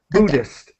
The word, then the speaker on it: Buddhist: Sorry, and just to help, the H is silent. Buddhist.